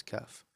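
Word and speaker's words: كاف: If you say the word ka in English, ka, and then just put the F at the end, right? So kaf, that's how you pronounce kaf.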